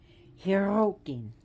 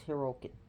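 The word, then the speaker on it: Hyrrokkin: Hyrrokin. And if you can't roll your R's, then it's Hyrrokin.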